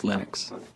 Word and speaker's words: Linux: Linus and I really don't care how people pronounce my name but Linux is always Linux he developed a kernel and got it working